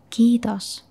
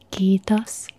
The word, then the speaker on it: kiitos: Kiitos. Kiitos.